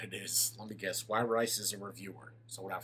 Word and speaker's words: Wirice: It's Wirice. Like, why would you eat rice? Instead of would you, just why rice?